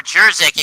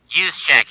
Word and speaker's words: Juszczyk: It's caught by Kittle, or Jerzik, excuse me, and he's gonna get 8. He's gonna get 6. Use check, excuse me.